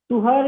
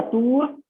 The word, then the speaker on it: tuhr: कुछ लोग इसे तूर भी प्रोनाउंसिएट करते हैं, अरबिक ओरिजिन का टर्म है, हम लोग हिंदी भाषी हैं तो हो सकता है इसको प्रोनाउंसिएट करने में कुछ गड़बड़ कर जाए। तुहर या तूर दोनों इसको बोला जाता है।